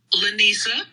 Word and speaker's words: Lanisa: La Nasia, am I saying that correct? La Nasia, pronounce that name for me right, Queen. Lanisa.